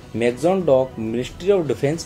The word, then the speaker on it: Mazagon: अब आप अगर हिंदी में बोलना चाहते हैं प्रोनाउंसिएशन तो उसको मजगाम डॉक लिमिटेड बोल सकते हैं, और अगर इंग्लिश के एसेंट में बोलना चाहते हैं तो मजगाम डॉक शिपयार्ड्स बोल सकते हैं।